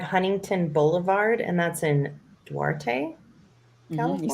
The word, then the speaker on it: Duarte: So 1525 Huntington Boulevard, and that's in Duarte, California.